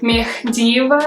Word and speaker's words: Mekhdiyeva: know my last name i pronounced it as mcdeva but actually in the theory my last name is me diva so kate does not exist in my azeri last name but in english somehow